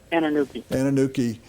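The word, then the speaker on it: Anunike: any additional help, that Kenny, how do you pronounce his last name? Anuki.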